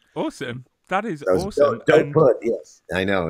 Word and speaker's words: Dopud: pronounced Serbian, so it's Dopud. Dopud is the right way to Dopud.